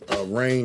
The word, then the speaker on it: Raign: Rain is spelled, in my name, Rain is spelled RAIGN. So it's like a combination of brainstorm, the word brain and the word rain.